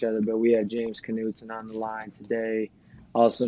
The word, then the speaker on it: Knutson: are around each other but we had James Knutson on the line today also known as pleasure to be here James how you say your last name uh Knutson yeah okay yeah I mispronounced um Riker's last name you know I